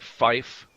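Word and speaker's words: five: 5 is said like fife, F-I-F-E.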